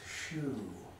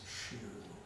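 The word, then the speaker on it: xu: the liver sound is shu if you see this written and pinion it's going to be x u but the x is uh pronounced like sh so it's shoe shoe for the liver um anything else i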